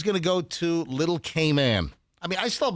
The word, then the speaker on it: Cayman: No, all of the Caymanians say Cayman. But all tourists say Cayman. That's the way the locals say it. It's Cayman, Grand Cayman.